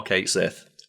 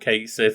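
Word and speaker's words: Cait Sith: a gayc thing right where it should be like C cat shei or something like that but then Square renx turned around and said no you we said it wrong we're going to commit to it being called Kate Sith it's okay Square sure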